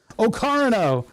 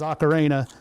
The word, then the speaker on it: Ocarina: Okarino, which is how Rich Evans pronounces Ocarena because he had never heard anybody say the word.